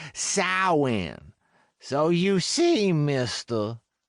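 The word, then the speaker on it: Samhain: Even though Sam is the ancient Celtic festival of the dead, its proper pronunciation is sin.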